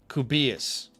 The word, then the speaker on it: Kubias: Okay, so we have Casey Bully as Bro D um uh and he says rhymes with tortillas, Kevin Kubias. Okay, Kevin K Kubias. Is that right? I'm saying that right? K Kubias, like tortillas.